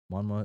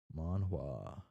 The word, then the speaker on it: manhwa: Manma is pronounced either with a strong H or like an F because the W changes the H sound in some dialects of Korea. Okay. Manhwa.